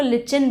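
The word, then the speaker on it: lichen: तो इसमें सबसे अच्छा एग्जाम्पल है लाइकेन, कुछ लोग इसको लिचिन भी प्रोनाउंस करते हैं।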